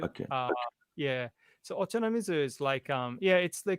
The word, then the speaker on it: Ochanamizu: Is it Okanamitsu? That's Guitar Street, where there's 400 shops in 400 meters or something. 40 shops in 400 meters. Ochanamizu. Ochanamizu is so ocha being tea, namizu.